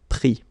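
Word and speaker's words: pris: Same thing here. Final S not pronounced, so prendre, prix.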